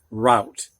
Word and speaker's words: rout: that's a route and this rout is only pronounced route however if you put an e on it it can be pronounced root as well as route and this means